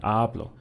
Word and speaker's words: hablo: block I pushed down I stressed on the first one hablo if I said a blow that would mean something entirely different will be understood in a different way so the same thing